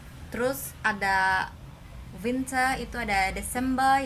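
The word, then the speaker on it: Dezember: Ingat ya, ini Z jadi S dibacanya. Jadi Desember.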